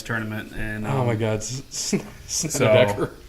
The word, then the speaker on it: Snedeker: the ceiling or whatever for the bad names that I pronounce. Oh. Brandt Snedeker. Snedeker.